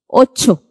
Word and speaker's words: Ocho: Now, if you remember when I spoke about C and H coming together, the sound that they make is J. Let's look at how this is pronounced. Ocho.